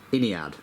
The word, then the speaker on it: Ynnead: Um, but I've since taken a lesson in uh Games Workshop's vocabulary and it is actually pronounced Iniad.